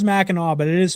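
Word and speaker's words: Mackinac: Machin, it's pronounced Meno, but it is spelled Minak.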